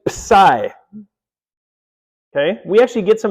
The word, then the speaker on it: psi: It takes the P and the S and puts them together. Okay, so it's actually psi.